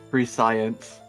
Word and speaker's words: prescience: That's my aura of prescience. Oh The my plus fucking... 2 to insight. Oh my fucking god, Vickos, it's pronounced prescience.